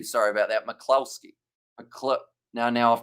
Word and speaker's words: McCloskey: come on France and McCloskey pronounced McCluskey oh did I say it wrong have I said a Euro or I said an O rather than a you sorry about that McCloskey a clip now now